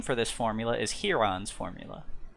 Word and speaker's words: Heron: But the name for this formula is Heron's formula. It looks like the bird heron, but it's pronounced Heron.